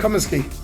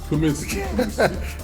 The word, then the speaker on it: Cumiskey: How do I pronounce it, sir? Cumiskey. Cumiskey.